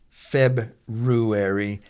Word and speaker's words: February: way it used to be said, the way it's spelled, then go ahead and say February and you'll be fine.